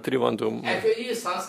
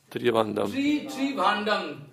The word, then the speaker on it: Тривандрум: И вчера я сказал, что рядом с Тривандрумом, он произносится не как Тривандрум, на санскрите Тривандам. Мы Тривандам произносим более упрощенно, но это неправильно. Тривандам более приближено к санскритскому произношению.